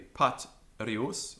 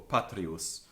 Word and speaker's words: patrius: So, for example, patrius, that first syllable can be short or long. So it can be patrius or patrius.